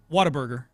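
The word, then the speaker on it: Whataburger: how's that how do you say water bger waterburger okay did I say it differently some people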